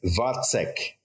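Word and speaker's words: Vacek: M Matas vik vek I've heard we've been saying his name wrong but now I forget what the correct way to say it is it's it's vek okay yes vek yeah plus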